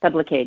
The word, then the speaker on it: Sublocade: Sorry, I probably mispronounced it. Sublocade.